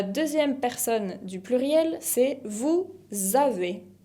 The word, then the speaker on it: vous avez: La deuxième personne du pluriel, c'est vous avez. Vous avez. Acá también hago la liaison entre pronom et verbe. Vous avez con la Z final que no se pronuncia.